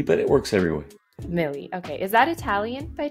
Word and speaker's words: Mele: Am I pronouncing that correctly? Say it Mele, but it works everywhere. Mele.